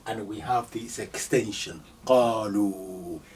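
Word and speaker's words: قالوا: Qalu. This alif, you don't pronounce it.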